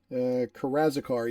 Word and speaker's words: Karazikar: Karazikar, yeah, has a lot of slaves.